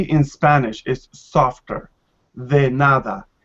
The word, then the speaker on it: nada: person will respond the nada you use like you pronounce d as a english teach sound like because you stick your tongue out to your mouth and say another right